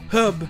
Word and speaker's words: herb: Puis vous aurez par exemple le mot "herb" où au Royaume Uni, le "h" se prononce. Alors qu'en anglais américain, le "h" ne se prononce pas.